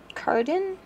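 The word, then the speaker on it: Cardan: also going to add Cardin is how you say his name from The Core princes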